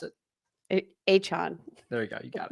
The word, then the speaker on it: Achane: Miami Dolphin running back, Devin, you want to pronounce it? Achane.